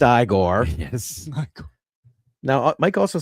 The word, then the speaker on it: Igor: And Mike does say it's pronounced Igor.